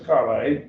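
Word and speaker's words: καλή: This is Calais, and again, it's not a noun because it doesn't have the genitive form in an article.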